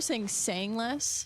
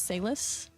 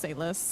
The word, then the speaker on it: Sayless: It's supposed to sound like that, but it's Sayless.